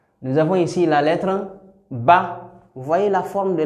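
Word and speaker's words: ب: Nous avons ici la lettre Ba.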